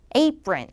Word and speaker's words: apron: 자, 강세 발음이 더 중요해요. apron. apron. 들으셨어요? 근데 뿌예요, 뿌. 된 소리로 apron.